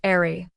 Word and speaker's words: Aari: Oh, and while you are reading this, it's pronounced airy. Like the breeze, she leaves defenders and a certain latest critic in.